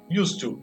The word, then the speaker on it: used to: E qual vai ser a pronúncia? A mesma. Used to. Por quê? Porque eu tenho o to no final e me influencia lá no use.